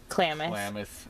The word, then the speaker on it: Klamath: Klamath. I always get that name wrong.